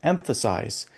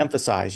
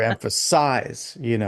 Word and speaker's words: emphasize: When we're speaking, we naturally emphasize certain syllables on certain words, like the word emphasize. You say Mhm. emphasize, you don't say emphasize Right. or emphasize, it's emphasize. So the emphasis is on the M, right?